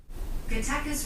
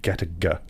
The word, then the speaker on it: Gattaca: GATTACA's running time is 1 hour and 46 minutes. That's technically the same pronunciation, but with different stress.